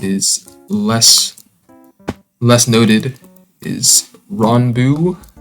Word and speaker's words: Ranboo: less less noted is ron bu i think is how he pronounces it um i might instinctively pronounce it ran boo but i think he pronounces it wrong his success is pretty